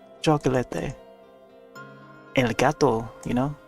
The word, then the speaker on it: chocolate: the vocabulary and stuff chocolate there you know spelled the same way as chocolate but uh pronounced differently chocolate day El Gato you